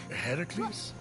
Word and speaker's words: Heracles: So, Phoenix, after boldly besting the Gorgon that ambushed Heracles, what are you doing there? That thing with your voice. Heracles? Yeah, that that is how it's supposed to be pronounced.